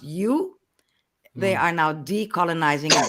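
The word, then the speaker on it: joe: In Stranang, the J-O-E pronounced you.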